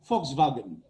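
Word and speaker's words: Volkswagen: উচ্চারণ হয় ফক ভোক বলবো না ফক্স এবারটা উচ্চারণ হবে ফক্সবাগেন ফক্স ভয়াগেন আমরা বলি ভক্স ওয়াগন ওয়া ওয়া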